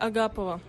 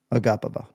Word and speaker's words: Agapova: Maria Agapova. Maria Agapova. Agapova. We're emphasizing that second syllable. But see, even Cody, my man, writes the phonetics in the but no, those phonetics, you can't write phonetics all in the fucking same case, right? Like people think I'm crazy. We're all just trying to emphasize the same syllable.